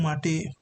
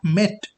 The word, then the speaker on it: MATE: Marty desktop now Marty pronounce is mate not met okay this is the